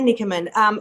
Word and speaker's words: Nichamin: Nichamin.